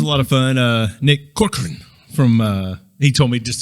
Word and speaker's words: Corcoran: But he was like, just say Cor and then Corcoran. Yeah. So that's how you say it. He said just blur the rest of it.